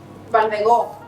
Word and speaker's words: Balfegó: The company called Balfegó. Balfegó. Balfegó is the Spanish pronunciation?